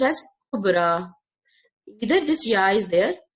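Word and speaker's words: كبرى: Okay, we can see a ya in the end, but we don't pronounce it. We pronounce it kind of alif sound, sound, kubra, husna, sughra.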